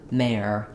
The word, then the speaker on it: mare: So you can hear when I say mare and mayor, they sound very similar,